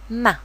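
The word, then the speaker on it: מה: he examples of Silent ma the word Ma you can see that the hay here is silent you do not hear the H of the ha we might as well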